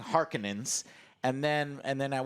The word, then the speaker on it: Harkonnen: mean i just i'm used to the 1984's pronunciation harkonnen she's saying harkenans and then and then at one point i